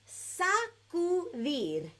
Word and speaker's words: sacudir: dun, dun, dun, es sacudir. Ready? Let's all say that together. On the count of 3, it's 3 syllables, so we're going to say it nice and slow.